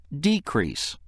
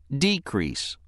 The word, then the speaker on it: decrease: again the other pronunciation of word for is decrease decrease this pronunciation is used when word four functions as